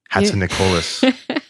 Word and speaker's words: Hatzinikolis: are they going to hear from from hatson nicolas you said it right yay uh well i